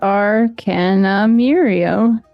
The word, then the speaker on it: Arcanumirium: And Arcanumirium is Arcanumirium. It's literally spelled like it sounds.